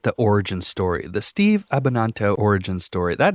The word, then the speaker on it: Abbananto: origin story the steve abananto origin story that name is just fun to pronounce now that we talked about how to pronounce it it kind of sounds like banana which makes sense for